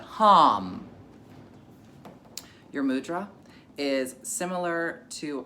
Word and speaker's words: HAM: So, our mantra for the day is hum, but it's spelled like ham. Ham, but hum.